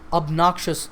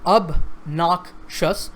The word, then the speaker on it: obnoxious: We often talk of a person's obnoxious behavior. Now this word has 3 syllables, obnoxious, and the stress is on the second syllable. So obnoxious.